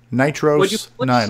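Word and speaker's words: NitrOS-9: Nitros 9, like a long O sound?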